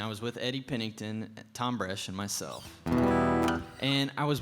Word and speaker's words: Thom Bresh: And I'll never forget the first time I met him because he said, "Hi, my name's Thom Bresh." And the H is silent like the P in pool.